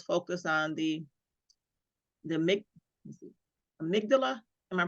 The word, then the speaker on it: amygdala: also had us focus on the the make amygdala am I pronouncing it correctly amygdala yeah amygdala yep yeah and he was talking